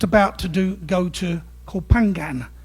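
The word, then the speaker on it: Koh Phangan: Um they're they're just about to do go to Copangan. I can never pronounce it right. My wife always pulls me up with my East End accent. I call it copengen but I always get it wrong.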